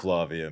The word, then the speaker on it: Flavia: I love Flavia, man. It is pronounced Flavia, by the way.